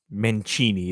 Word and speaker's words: Mancini: first round pick so Victor menini is probably the right way to pronounce it in Italian um why does all